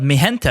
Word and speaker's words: Mijenta: So if you see a bottle of Mi Gente, and that's spelled Mijenta, it is quite delicious.